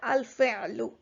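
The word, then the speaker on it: الفعل: So this haraka, or the vowel sign at the end, you can pronounce it if you continue, or if you stop, you don't have to pronounce it. So you can just say al-fi'l. But if you continue, you can say al-fi'lu.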